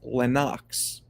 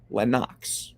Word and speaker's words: Lennox: name appreciate you Dwayne is not Lennox it's pronounced Lenox out of his mouth from his mouth to my ears to y'all's ears Lenox not Lennox it's Lenox just saying that's one